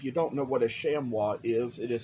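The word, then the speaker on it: chamois: know I I even saw recently a little shamua head on Etsy that I wanted if you don't know what a shamwa is it is spelled c h a m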